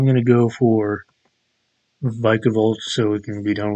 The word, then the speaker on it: Vikavolt: hate it but vikavolt it is vikavolt I previously called it viavolt wait how do you